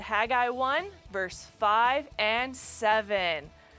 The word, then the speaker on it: Haggai: to lead his people the answer is haggai i will also accept haggai the jury's still out on pronunciations but no matter how you say it the spelling's the